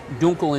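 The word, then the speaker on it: Dunkel: dark beer and it's called a Munich uh Dunkle uh duncle or correctly pronounced Dunkle in German means dark and so this is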